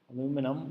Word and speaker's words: aluminum: how many moles of aluminium aluminium or you want to pronounce it aluminum will react with zero